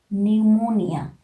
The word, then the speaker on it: pneumonia: also these sound is silent we are not pronouncing like um tetrodical pneumatic pneumonia these words you know tetradictal is the verse